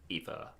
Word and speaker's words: Aoife: Aoife.